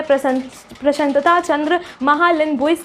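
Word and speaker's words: प्रशांत चंद्र महालनोबिस: ठीक है, इनका नाम मैं पूरी तरीके से यहाँ पे आपको दिखा दूंगी, फुल नेम, जिसको प्रोनाउंस करने में थोड़ी दिक्कत होती है। प्रशांतता चंद्र महालनोबिस करके कुछ नाम है, ठीक है, कोलकाता से रिलेटेड है।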